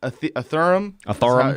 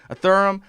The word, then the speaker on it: Ethereum: even heard of was a a theron how she pronounced it ethereum and uh and uh